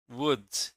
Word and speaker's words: would: Which consonant isn't pronounced in should, would, and could? In should, would, and could, the letter L is silent.